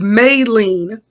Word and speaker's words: Maylene: i was returning so maylene oh you wanna know why also because i always associate may with may and so anything outside of that is not heard so anyway it's may lean and um if they